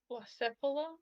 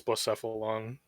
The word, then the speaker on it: Blacephalon: but Blacephala? uh, yeah, I think it's Blacephalon. At least that's how I've heard it pronounced. Blaze Fallon. Well, because it's got cephalon in there.